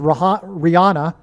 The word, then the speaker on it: Rihanna: So the news came out on 8/8, the day of the Lahaina fire, and she is Rihanna, which rhymes with Lahaina.